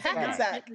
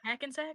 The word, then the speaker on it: Hackensack: well, you already know this one, but how do you pronounce this I can- town? Is Hackensack. it not just Hackensack?